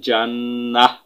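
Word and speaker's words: ٱلْجَنَّةَ: জান নুন জবর না জান্না তা জবর তা জান্নাতা ফা ইন নাল জান্নাতা। এই শেষের গোল তাকে হা করে উচ্চারণ করতে পারেন। ফা ইন নাল জান্নাহ।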